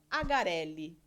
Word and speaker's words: Agarelli: Nós estamos aqui hoje recebendo o seu Ângelo e a Bianca Agarelli. Pronunciei certinho?